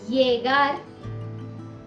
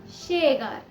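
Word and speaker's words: llegar: किया जाता है और कुछ जगहों में इसे श भी प्रोनाउंस किया जाता है। जैसे येगार, येगार, शेगार।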